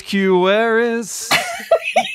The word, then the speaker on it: Quewaris: My name is Quewaris. It rhymes with no one told me. Maris.